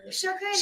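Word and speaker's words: شکریہ: Shukriya.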